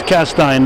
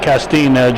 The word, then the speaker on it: Castine: Kelly Ryan, and it's Castine, not Castine, John Zeran. John Zeran. He still hasn't learned how to pronounce Castine.